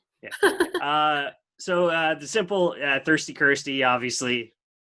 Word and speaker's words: Kirsty: my name, they're like, Christy, Krusty, Kirsty. Like, and I'm like, no, it's just Kirsty. Like, so I'm like, it's Kirsty. It rhymes with thirsty.